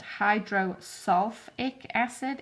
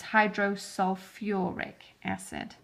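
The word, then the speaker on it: hydrosulfuric acid: world the whole word so even though you want to call it hydro salt acid it's not it's hydro sulfuric acid he uses the whole word sulfur see that's the word sulfur hydro sulfuric I said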